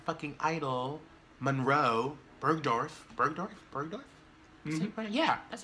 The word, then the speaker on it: Bergdorf: Bergdorf?